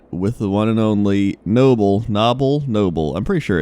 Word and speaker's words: Nobbel: some people are still I know it's Noble in fact so I remember fishing with you and I asked you this but some people are still like it's got to be novel you're saying it wrong you positive that is Noble are you really sure